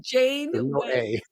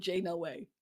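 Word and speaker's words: Janeway: away Jane away way how do you say it Captain Jane way oh it's Jane way Jane way you know what's so funny all my life I've said Jane no way I thought it was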